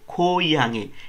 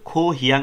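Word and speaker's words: 고향: ভুমনি ভাগ্য পিতা-মাতার সাথে খোইয়াং এটার উচ্চারণটা কিন্তু খো হিয়াং হয় না করিরা উচ্চারণ করে খোইয়াং মানে গ্রামের বাড়িতে সালগো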